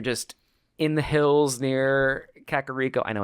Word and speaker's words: Kakariko: like when you're just in the hills near Kakariko. I know it's Kakariko. Shut up. Village. Is it really actually? That's what Kakariko? Impa says. Kakariko. Impa can suck a fucking. I know. I've always called it Kakariko.